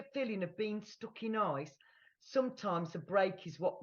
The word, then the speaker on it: Isa: Then the next one is Isa, which we would pronounce ice, basically.